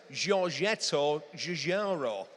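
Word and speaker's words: Giorgetto Giugiaro: Giorgetto Jarro. Well, that's how I'm pronouncing it. Like a native, a native of Berry.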